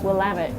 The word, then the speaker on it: Willamette: Well, I always remember it's Willamette, damn it.